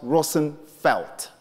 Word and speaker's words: Roosevelt: as I said and Roosevelt is a bastardized Dutch name with a real census pronounce Rosen felt then he dodged people